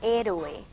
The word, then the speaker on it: héroe: veo la palabra héroe héroe es una palabra esdrújula eoe claro es un yato son dos vocales fuertes por eso no es héroe no no y como tiene una pronunciación esdrújula se tilda como todas las esdrújulas salidas por haber que